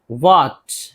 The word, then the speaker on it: what: क्या या जो के लिए व्हाट, व्हाट एच है नहीं पढ़ेंगे, डब्ल्यू एच है।